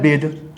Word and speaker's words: bathe: द पढ़ते हैं, दी THE द, तो ये द हो गया, इसको पढ़ते हैं बेद।